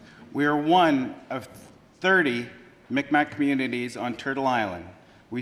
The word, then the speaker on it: Mi'kmaq: And now, Chief Edward Peter Paul of the Micmac Nation, or pronounced Mi'kmaq Nation.